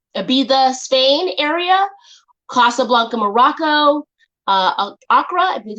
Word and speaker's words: Accra: Ibiza, Spain area, Casablanca, Morocco, Accra, I believe it's Accra, Ghana, or Johannesburg, South Africa.